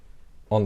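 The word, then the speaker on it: ㅗ: So the key difference between these two is that when you pronounce this one, you have smaller circle of your lips. So you have O compared to this, and this is Aw.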